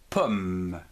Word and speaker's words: pomme: Et enfin ici une pomme, P, O, M, pomme, M-E, me, pomme, une pomme.